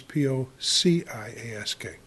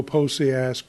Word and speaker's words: Pociask: But if you want to go Posiask, that's fine.